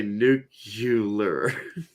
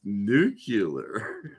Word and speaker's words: nuclear: of it it's pronounced nuclear nuclear just separate the words into new clear you know like a fresh bottle of vodka new and clear nuclear you know I ain't